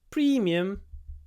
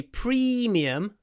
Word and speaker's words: premium: One Premium class premium premium this is a premium product when you say premium make sure you pronounce it with an E it's not premium it's